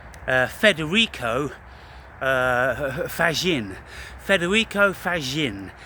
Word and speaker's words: Fagin: Federico Fagin. He's Italian and his name is spelled F A G I N like faggin.